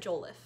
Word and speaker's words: Jollof: I did actually look up how to pronounce it, and Google said Jollof, so that's what we're going with.